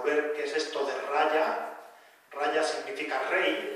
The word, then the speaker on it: raja: integración en inglés entonces no se pronuncia como las jotas castellanas más bien como y entonces raya significa por